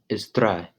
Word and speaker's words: drei: Number three is drei. Drei. Roll over the DR with your tongue.